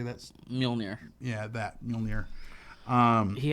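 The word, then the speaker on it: Mjölnir: a loft uh how do you say that's mjolnir yeah that mjolnir um he had mjolnir and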